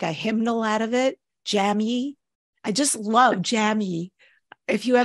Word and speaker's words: Jamye: And I'm like, no, if you're hooked on phonics, which is how I learned to spell, if you're hooked on phonics, it's Jamye.